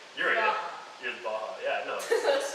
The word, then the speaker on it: Baja: How often do you have people pronounce it Baja? Pretty often. Oh. When I joined the team, I thought it was Baja too. Is it and not? That was corrected. It's Baha.